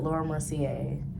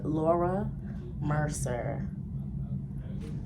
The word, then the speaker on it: Laura Mercier: don't know why I used to call it Laura Mercier like I don't know like I I heard a YouTuber pronounce like that so I just automatically was